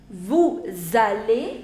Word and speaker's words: vous allez: So we say nous allons, vous allez, again the same rule, vous allez, ils vont et elles vont.